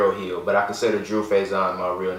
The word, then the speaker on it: Faizon: He's like, "Oh, our last name is it's pronounced Faizon." And my mom's like, "I've been around for like 45 years. I'm pretty sure I know how to say my last name."